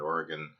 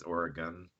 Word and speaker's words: Oregon: Is it not supposed to be pronounced Oregon? It's Oregon. It's the equivalent to saying Illinois. Okay, yeah, I don't like that. Where you're just like, no, man. It's Illinois. It's Illinois. It's Oregon, not Oregon.